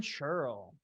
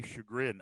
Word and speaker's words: Churl: Lilgren Churl. There we go. I always want to try to make it rhymes, and it's churl, and I always want to say chagrin.